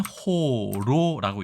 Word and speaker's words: 葫蘆: 있는데요 한번 바로 보시겠습니다 이 글자 네이 글자는 호로라고 읽습니다 그리고 사전적인 정의는 뭐